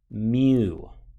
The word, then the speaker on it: mu: entire population we use this greek letter that's pronounced mu so you can see that the formula here